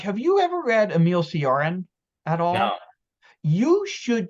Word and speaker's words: Cioran: Josh, have you ever read Emil Cioran at all?